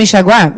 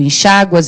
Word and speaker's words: enxaguar: E o verbo enxaguar, mesma coisa. Se eles se cruzaram, ficam valendo as duas formas. Olha lá, eu enxago, tu enxáguas, ele enxágua, nós enxaguamos, vós enxaguais, eles enxaguam.